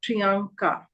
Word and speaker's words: Priyanka: in the other name we have Priyanka both of them are the a sounds but if you notice here the first a is n so prianka and the other one